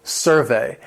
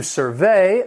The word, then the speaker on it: survey: If talking about the noun, the stress is on the first syllable, survey. And this is an examination of opinions, behaviors made by asking people questions. The survey focused on people's happiness. If we're talking about the verb, to survey, the stress is on the second syllable.